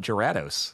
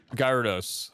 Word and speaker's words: Gyarados: so i was like okay i'll call it gerardos gyrados dorados gyarados oh okay monsters nearby say it ain't so